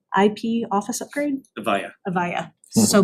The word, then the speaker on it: Avaya: the recommended bidder, New Era Technologies for the AVA IP office upgrade? Avaya. Avaya, so butchered that, Good but thank try.